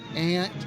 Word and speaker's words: aunt: Is it aunt, or ain't? I'm in the South. It's ain't B, but it's spelled A-U-N-T, ain't B.